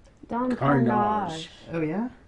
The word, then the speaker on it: Carnage: My favorite character is Don Carnegie? Don Carnage. Oh, yeah? Is that spelled like carnage? Yes. Carnage. So it's spelled exactly like carnage.